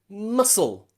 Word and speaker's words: muscle: words like muscle muscle the c following the s we don't need the c we don't say muscle or crescent we say muscle muscle just pronouncing the